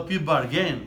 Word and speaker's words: plea bargain: A pronúncia, eu estava enganado. Eu falava plea bargain. Tá errado. Bargain. Plea bargain, um acento no A.